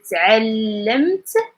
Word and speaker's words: تعلمت: Like you count like 2 consonants and you put like a little vowel in between, and it's going to help you with the pronunciation. For example, تعلمت, as I learned.